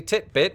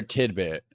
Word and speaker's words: titbit: today is titbit basically titbit which for those of you wondering rhymes with Fitbit is an alternate we actually I we pronounced it around here tidbit so maybe we're pronouncing